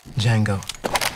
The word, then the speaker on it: Django: Django. D-J-A-N-G-O. The D is silent.